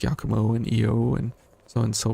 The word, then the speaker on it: Io: on and so forth I know a lot of people say IO um and different pronunciations for her name but because at the very end if you do it perfect right um the main character says EO and so that's kind of how I uh took it from there on out but yes the the